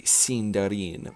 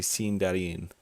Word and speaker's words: Sindarin: Or if we want to be really pretentious about it, we can say Sindarin, which is actually how you say it, but nobody says that because, well, just nobody says it. So it's a interesting. Yeah, it's actually Sindarin.